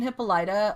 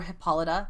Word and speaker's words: Hippolyta: So Queen Hippolyta, or Hippolyta, however you want to pronounce it, is their actual leader, but the military leader is Antiope.